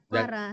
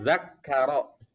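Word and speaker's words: ذكر: Ro, Bu, bukan ra. Ro ya, bukan ra ya. Ibu bukan orang Aceh kan? Apa jadinya zakro? Saya orang Padang. Zakaro. Nah, iya. Jadi bacanya ro ya. Zakaro bukannya zakara ya.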